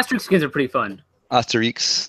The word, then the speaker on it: Asterix: Asterix. That's how you say it. It's from France.